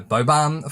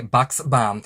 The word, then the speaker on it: Buxbaum: I had been calling her Bobaum for a while and then found out I was saying it wrong. The X is not silent. So it's Julie Buxbaum.